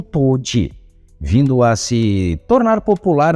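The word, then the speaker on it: 唐手: para o karatê, e os caracteres chineses na palavra nem mesmo eram pronunciados por eles como karatê, mas sim como toji, vindo a se tornar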